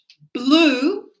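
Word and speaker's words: blew: Blue. Blue. Like the color blue. So look at that. Look, the the the spelling is different, but the pronunciation is like the color blue.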